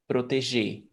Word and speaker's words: proteger: what is that yuri all the verbs that finish with a r i r o e r the r at the end is never pronounced so via fuji protege you don't pronounce the